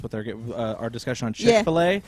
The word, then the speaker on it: Chick-fil-A: our discussion on chickfila it's actually spelled f i l l a f or f i l space a so that's why we're calling it Chick-fil-A because that's what it's actually how it's spelled yes um what's your